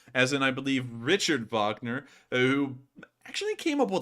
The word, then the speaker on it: Wagner: another 20 donation and says I believe it's pronounced Wagner named after the composer whose ideology inspired a